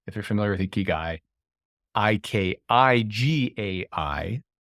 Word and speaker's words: Ikigai: I think of Ikigai, if you're familiar with Ikigai, Ikigai, pronounced Ikigai, Japanese origin.